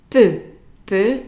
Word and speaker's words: peu: Peu, EU is an E sound, peu. So anytime you see EU is an E, peu.